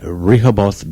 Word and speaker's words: Rehoboth: is at the Dogfish Head Pub in Rehoboth Beach, Delaware. Rehoboth. Rehoboth. It's misspelled. Rehoboth. It's misspelled. there. Rehoboth. It's spelled Klingon here.